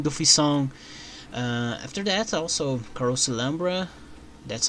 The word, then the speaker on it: Carouselambra: After that also Carouselambra, that's how you pronounce this, Carouselambra.